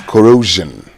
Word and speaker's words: corrosion: The right pronunciation is corrosion. Corrosion. Not corrosion. Corrosion. As you say, pleasure.